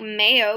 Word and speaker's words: mayo: If today's Monday, hoy es lunes 10 de mayo. Mayo is spelled like mayo, but it's pronounced mayo.